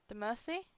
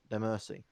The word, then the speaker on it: Demasi: How was that meant to be pronounced? The Mercy? Demasi. Yeah. With 2 eyes.